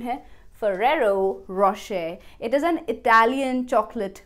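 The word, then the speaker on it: Ferrero Rocher: chocolate brand as Mummy, I want to eat ferero Ro-chur chocolate I hope you donot pronounce it that badly so the right pronunciation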